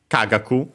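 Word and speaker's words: 科学: And in our case, with the ka, kagaku, accent on the first syllable.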